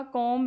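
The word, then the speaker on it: comb: फिर आपका कोम है। कोम है इसको। कोम मतलब बी इसमें साइलेंट होता है।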